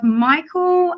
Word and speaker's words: Micheal: But today we have Micheal, am I pronouncing it right?